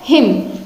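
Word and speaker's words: hymn: जैसे हम HIM हिम वाला उच्चारित करते हैं बिल्कुल ऐसे ही इसका होगा हिम, हिम।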